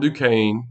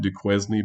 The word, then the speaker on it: Duquesne: Okay, Fort Duquesne, and I know that looks like Duquesne, but you pronounce it Duquesne. This is pronounced Fort Duquesne.